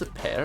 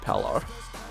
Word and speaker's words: palr: oh my God it's if I've been saying his name wrong it's a pear and not pallor why that looks like an